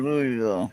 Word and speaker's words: Louisville: Louisville or Louisville? Louisville. Okay. Oh, It is spelled Louisville, but it's Right.